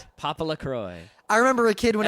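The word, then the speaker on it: PoPoLoCrois: o i s and that is pronounced papaa Croy if you don't know how to say that you're there's something wrong with you papa La Croy I remember a kid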